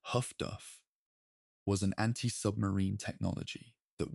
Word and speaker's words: HF/DF: The development of high-frequency direction finding, HF/DF, pronounced HUFDUF, was an anti-submarine technology that worked on a different principle from radar and complemented it effectively.